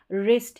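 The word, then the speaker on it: wrist: करेंगे दूसरी बात कि आर से पहले ये जो डब्लू है ये साइलेंट है रिस्ट है यहां पर उच्चारण आर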